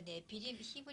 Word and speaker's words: Nephilim: 英武的有名的人，这是 Nephilim，是这样发音的。